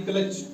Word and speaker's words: clutch: SWITCH, switch, CH से पहले टी तो टी साइलेंट। यहां भी क्लच, CLUTCH, क्लच, क्लच से पहले CH से पहले टी तो सी साइलेंट, टी साइलेंट, सॉरी।